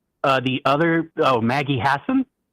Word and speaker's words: Hassan: Uh the other Oh, Maggie Hassan. Hassan. Okay. Yeah. Uh both of them were governors. Maggie Hassan and Jean Shaheen.